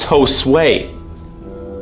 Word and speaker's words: Jose: My name's Josue, spelled Jose, but pronounced Josue.